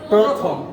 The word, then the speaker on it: প্রথম: আমরা বলি প্রথম, কি বলি? প্রথম। আসলে কি হবে? প্রথম।